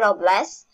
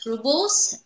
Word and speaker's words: rubles: employers give her 80 robles and tells her that she needs to stand up for herself okay so that's right and by the way it is pronounced as rubles um the russian currency